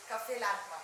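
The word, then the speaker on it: Café Landtmann: Cafe Landman. Am I pronouncing that right? Cafe Landman. Cafe Landman, yes.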